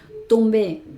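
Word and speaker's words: tombée: Tombe se pronunciaría solamente así el masculino, aunque tengo una e esta e no suena.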